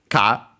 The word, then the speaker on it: 貨: phonetic part, which is ka, as we have seen already, kinka in the compound, in the title, golden coin. Ka is the pronunciation of the kanji at the top on its own, and also here.